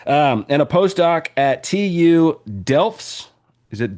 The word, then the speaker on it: Delft: And a postdoc at TU Delfts. Is it Delfts?